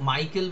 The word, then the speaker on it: Michael: সো মাইকেল বানানটাও তাই, মাইকেল MICHAEL, MICHAEL, অ্যাল, মাইকেল, এরকম মানে উচ্চারণটা হবে আর কি।